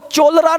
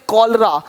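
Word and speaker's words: cholera: पढ़ेंगे इसको चेम नहीं पढ़ेंगे केमिस्ट अब देखो चोलर नहीं पढ़ेंगे चोले इसको पढ़ेंगे कलरा कलरा हो गया देख रहे हो है ना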